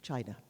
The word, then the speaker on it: qi: was the the highest uh religious symbol of china chi it's spelt q i in in in in english